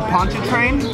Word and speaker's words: Pontchartrain: my hotel and I got the pot the Pontchartrain that's how you say it yeah yeah pretty